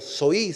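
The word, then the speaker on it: ζωή: Aquí la palabra vida soe en griego soí se puede pronunciar también es la vida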